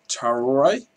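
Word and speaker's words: Traoré: It's not Torre, it's Traore.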